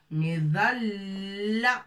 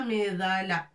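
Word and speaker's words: مظلّة: Mim avec kasra, ضاد مفخمة bien sûr, رقبة et point, مظلة لام تاء مربوطة, مظلة avec شدة. Il faut appuyer sur la lettre لام. لا, on ne dit pas مظلة, non. مظلة.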